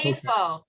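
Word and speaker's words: איפה: Efo. Good. Efa. So tell Susan, how do we say where? How do we say where in Hebrew? Efa. Efo.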